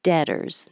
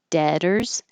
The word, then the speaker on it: debtors: Then masters, debtors. The word debtors, the B is silent, the T changes to a D, and OR always sounds like ER.